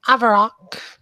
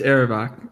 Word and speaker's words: Erebach: one among them named Avarok. Did I get that name right? It's Erebach, but Erebach, you're close.